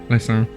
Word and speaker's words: Leysin: called Leysin, which we found on Which is pronounced how? Leysin, obviously.